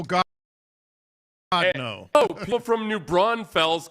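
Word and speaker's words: New Braunfels: try to correct you and say, "No, it's pronounced New Bronzefell." No. God, no. Oh, people from New Bronfells call say New Bronfells, but there's people in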